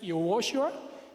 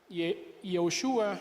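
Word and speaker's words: יהושע: La única diferencia es que Jesús no contiene la letra de Hei, pero Josué sí, y la pronunciación, aunque no me sale muy bien, es Yehoshua y Yeshua.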